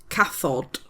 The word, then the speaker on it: cathod: One cat is a calf and the plural of cats, well the plural cats is cathod.